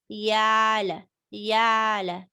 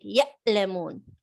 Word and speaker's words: ع: Yeah, ayn, the way I pronounced is sharp. If you cannot do it that way, say yala, yala. This is also acceptable. What is not acceptable is changing ayn to hamza like ya'lamun.